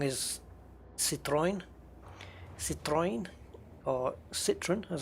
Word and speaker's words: Citroën: I think the one that a lot of people get wrong is Citroën, or Citroën, as a lot of people say. Citroën, because it's French, Citroën.